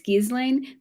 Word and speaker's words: Ghislaine: I always forget how to pronounce her name. It's Ghislaine.